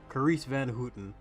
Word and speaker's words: Carice van Houten: Carice Van Houten.